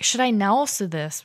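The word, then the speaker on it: なおす: Now in Osaka Ben, it's first of all it's pronounced naosu. Okay. So again, going down naosu.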